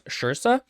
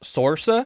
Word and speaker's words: Saoirse: writing a story, and the main character's name was Shirsa, which is spelled Soarse, so you would think it would be pronounced Sorsa. Wait, isn't it Saoirse? Yeah, it's Saoirse, like inertia is the way she says it.